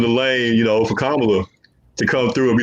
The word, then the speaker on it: Kamala: the door, open the lane, you know, for Kamala to come through and be the first female president, man.